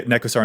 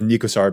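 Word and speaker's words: Nekusar: or a neckosar that I'm trying to say Neko star instead of nicosar because I know that you guys give me a hard time about my pronunciations on that one like that tends to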